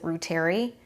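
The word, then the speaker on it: reuteri: one would be lactobacillus Rueter II sometimes people pronounce it root airy and basileus some to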